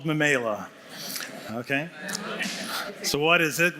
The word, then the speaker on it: Memaila: And it's called, you might be asking, how do you pronounce it? It's called Mamela.